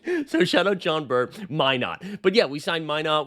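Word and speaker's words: Minott: Minot rhymes with why not your French version, which is true. I was saying Josh Minot.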